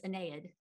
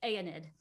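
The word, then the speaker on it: Aeneid: just quickly say that the usual pronunciation is anaed rather than a anid okay so one of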